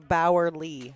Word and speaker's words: Bowerly: And Bowerly is how we say it. Bowerly, yes.